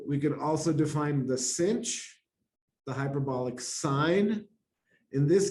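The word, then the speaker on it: sinh: And as I mentioned, it's pronounced cinch or hyperbolic sine.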